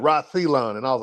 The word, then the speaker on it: Celyon: He picks it up and he pronounced my name perfectly, which hardly anybody does. And shout out to you. You pronounced it right, too. But he said, "Reon."